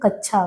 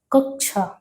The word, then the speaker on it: कक्षा: कक्षा शब्द का शुद्धतम उच्चारण क्या है? जब हम लोग बोलते हैं कच्छा गलत है। कक्षा कक्षा जो है उसे हम देखें शुद्धतम रूप में कच्छा को क्या कहेंगे?